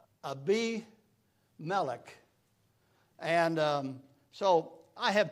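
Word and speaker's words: Abimelech: to get proper names I'm so used to calling names that are not the name it's it's like a bimac it it it it really is is uh um ABI melik and um so I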